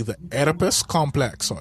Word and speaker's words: Oedipus: if I could pronounce it correctly, the Oedipus complex, or Oedipus, however you want to say it. No, it's Oedipus.